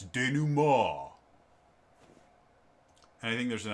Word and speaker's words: denouement: now it's spelt denouement it's not how you pronounce it it's de nou mal and i think there's an answer mond um but i've always pronounced it dynamo uh and it's actually this is the description